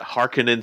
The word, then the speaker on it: Harkonnen: but i still like the original dunes uh pronunciation of the harkonnen house is that harkening seems a bit eh you know not very punchy but i feel that harkonnen that's a more you know yeah punchy way of pronouncing that name uh well but dylan